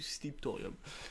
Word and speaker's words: Sliptorium: présentation donc voici la clé du secret du slip thorium ça se prononce ainsi c'est facile à trouver nous sommes